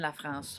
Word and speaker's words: Lafrance: And Etienne Lafrance on bass. Okay. You say La France. Yeah. I wasn't sure how to pronounce that.